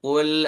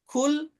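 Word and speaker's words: قُلْ: Umpamanya, Qul a'udzu birabbin nas. Pakai qaf ya. Dalam Quran seperti itu. Kita baca pakai kaf. Qul a'udzu birabbin nas. Qul katakanlah pakai qaf. Kalau kaf kul itu makanlah. Fi'il amr ya.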